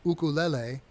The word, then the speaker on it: ukulele: It's actually pronounced ukulele, and ukulele in Hawaiian means jumping flea.